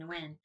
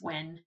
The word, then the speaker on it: Nguyen: But like that, and I know I keep saying Nguyen, and I think it's Wen.